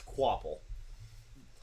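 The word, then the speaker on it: Kvapil: Carson qule which yeah that is not how I would have imagined to pronounce qule but that is the actual pronunciation I'm not even touching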